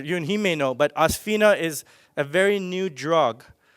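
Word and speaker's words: Osphena: It's pronounced Osphina.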